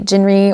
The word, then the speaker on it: 진리: So yeah, I absolutely do not mind if people call me Jinri or Jin, just because, I mean, 진리 is so hard to pronounce even for myself.